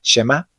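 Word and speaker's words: שמע: la letra Ain actúa como una parada glotal, es decir, como un ligero corte de aire al final de la palabra, por lo cual el sonido A no se alarga, y por eso se pronuncia Shema en lugar de Shema.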